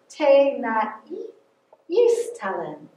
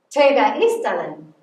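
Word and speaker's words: ጤና ይስጥልኝ: So we're gonna sound it out with the syllables. Te na istalin. Te na istalin.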